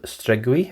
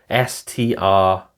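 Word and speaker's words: Striguil: He also, I think he had I'm not sure if it's Earl of Strigui, I think it's pronounced. Strigui.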